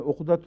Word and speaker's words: عقد: کے بعد، عقد نکاح اردو میں تو عقد کا تلفظ ہے، عربی میں عقدۃ النکاح چونکہ آتا ہے، اس لیے پیش سے نکاح کے تعلق میں پیش بھی ذہن زبان پہ آ جاتی ہے، ورنہ اصل تلفظ عقد ہے، نکاح کا نام